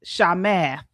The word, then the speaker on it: Chamath: His name is pronounced Shamath. Okay. So he is a Thank you, Jude. Yes. Uh Shamath is a Canadian American venture capitalist and entrepreneur.